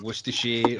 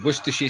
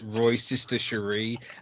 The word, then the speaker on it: Worcestershire: My favorite like Americanism for a Shire word I saw on TikTok, and this guy pronounced the Worcestershire sauce as Roy's sister Cherie, and I just died.